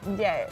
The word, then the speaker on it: Ndiaye: And I said Ndiaye, but your surname is pronounced in a different way. Is it Ndiaye? Ndiaye. Ndiaye.